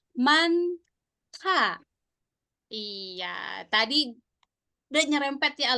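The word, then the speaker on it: 많다: Nah, itu dibacanya manta. Iya, tadi udah nyerempet ya Alunasi. Ada ma, betul, tapi ada bacimnya dia. Mant. Tapi bacimnya double ya, N sama hit. Mant. Da gitu ya, dibaca jadi manta.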